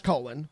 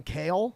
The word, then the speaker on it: Colin: mispronounce your name yeah it's Colen people mispronounce Colin all the time sometimes I I've gotten kale more than once uh but colon There's only three.